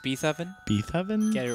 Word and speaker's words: Beethoven: It's pronounced Beethoven.